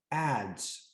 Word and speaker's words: adze: wood now the name of this object is ads and that is spelled a d z e it is in